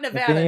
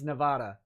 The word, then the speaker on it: Nevada: me to pronounce it no not nevada it's not nevada no no i refuse i refuse i cannot take it it's nevada where are we drinking